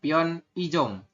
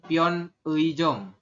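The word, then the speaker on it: 편의점: connya ini ini dibacanya Jadi dibacanya pion ijom bukan pion eijom tapi pion ijom kemudian ini hui bukan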